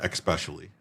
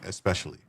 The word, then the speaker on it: especially: Let me say there is no X in that word. I never said especially. I say especially. Especially e specially.